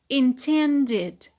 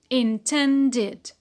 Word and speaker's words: intended: When it is in the past, it becomes intended, intended. Short E, ne, te, e, ne, de. Short E, de. How many syllables? 3. 3 syllables. Intended.